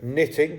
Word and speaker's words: knitting: are silent letters so knitting you can't hear that k wreck you can't hear